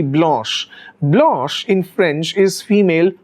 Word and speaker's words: Blanche: the name blanche now blanche of course is the american pronunciation but if you look at the french pronunciation it is actually blush blush in french is